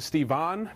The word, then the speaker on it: Stevan: so Who am I my name is stephen but i also respond to steve on because that's how it's spelled and all the russians at work pronounced that way so whatever just call me Stephen in 2005 I wrote